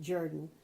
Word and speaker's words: Jordan: Jimmy Jordan, or Jimmy Jordan, her family pronounced it Jordan, but it's spelled J-O-R-D-A-N, and he was the